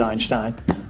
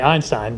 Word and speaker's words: Einstein: einstein because einstein said einstein did he i didn't know yes he did proper german pronunciation anyway uh in america we say einstein but he didn't say